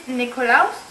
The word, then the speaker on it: Nikolaus: video, I'm going to be doing a sort of different video, because today in Germany and in Holland, it is Nikolaus.